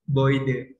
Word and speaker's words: Gebäude: Nah, teman-teman pasti kan tulisannya Herenil Gebäude, tapi kok cara bacanya itu Boide. Kembali lagi ke alfabet awal yang sudah diajarkan oleh Rizky, yang mana kalau misalnya EU dibaca O.